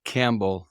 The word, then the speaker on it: Campbell: to Northeastern Ohio specifically Campbell Ohio it's spelled like the soup pronounced like the animal it's a Tiny Town